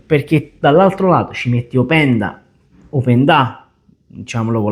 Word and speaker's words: Openda: E attenzione, perché dall'altro lato ci metti Opendà, diciamolo con l'accento sulla A, che da noia, pure questo è bello forte.